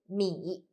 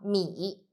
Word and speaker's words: 米: The word of today is 米. In this video, I will teach you how to pronounce it, how to write it, and how to use it. First, let's read together. 我们一起读米摸一 third tongue 米 Okay, let's write it.